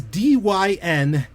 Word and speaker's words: Dynazty: It's Dynazty.